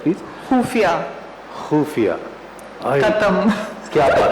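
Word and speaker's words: ख़ुफ़िया: खुफिया। खुफिया, खत्म। क्या बात है, खत्म। खाली आपने खुफिया बोला, मैं तो खत्म हो ही गया।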